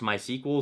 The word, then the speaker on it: MySQL: or my sequel database MySQL is pronounced my sequel so throughout this video